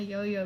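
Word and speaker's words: Yaoyao: That's Yo-Yo, how you Yo-Yo. pronounce it. That's really how you pronounce it.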